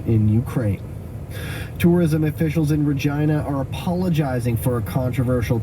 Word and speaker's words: Regina: idea of course that Regina is similar to the word vagina explain that to a